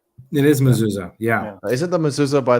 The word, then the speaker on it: Mazzulla: It is Mazzulla, yeah.